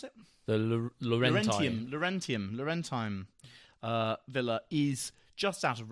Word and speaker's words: Laurentine: So these Roman ones, and one of them, the Laurentide, how do you pronounce it? The Laurentine Villa is just out of Rome.